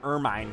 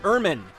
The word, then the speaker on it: Ermine: The fact that I was calling her Ermine for the longest time, but her name is Ermine. That is how you pronounce it. You pronounce it Ermine like vermin.